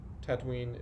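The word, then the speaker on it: Tataouine: the answer is Tunisia supposedly Tatooine is derived from Tatooine which is spelled differently but I'd really sounds the same it's the city close to where they shot a lot of the scenes which u.s.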